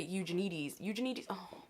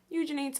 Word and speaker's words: Eugenides: It's Fresh Complaints by Jeffrey Eugenides. Eugenides. I'm so bad at pronunciation, even of authors that I should know.